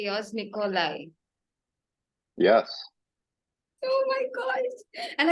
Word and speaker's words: Nikolay: Nikolay.